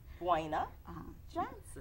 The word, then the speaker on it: Buena Johnson: Buena Johnson.